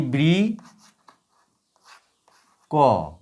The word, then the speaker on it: বৃক্ক: বৃক্ক উচ্চারণ কেমন? বয়রি ব্রি ক, বৃক। এই হচ্ছে বৃক, তারপরে এই হচ্ছে ক। এইটা বেশি সময় নিঃশ্বাসকে নিয়ে উচ্চারিত হবে, আর এই কটা হালকা নিঃশ্বাস নিয়ে উচ্চারিত হবে।